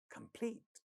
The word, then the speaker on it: complete: Second word, next word, again has pa sound at the initial position of the stressed syllable, which is the second syllable, and the word sounds as complete, complete, complete.